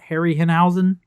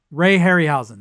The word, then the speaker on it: Ray Harryhausen: Uh, uh, Harry Henhausen, however you pronounce his name. Harryhen. Ray Harryhausen.